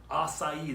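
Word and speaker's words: açaí: then of course everybody's favorite the SuperDuper acai acai that's how you pronounce that thing this is one of my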